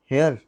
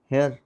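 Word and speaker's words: here: हियर हियर देयर वाज़ it raining देयर यस्टर? ओ काका Hindi pronunciation ठीक करो। हेयर नहीं है। हेयर माने बाल हेयर माने खरगोश हियर।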